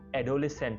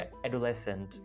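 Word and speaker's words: adolescent: इसको बहुत से लोग एडोलेसेंट बोलते हैं, एडोलेसेंट, जो कि गलत है। इसको बोला जाएगा एडोलेसेंट। एडोलेसेंट यानी एडो को थोड़ा अलग प्रोनाउंस करना है और अगले पार्ट को लेसेंट बोलना है, राइट।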